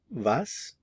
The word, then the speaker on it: wie: look at how so how in German is V v v notice the pronunciation of the w v v how is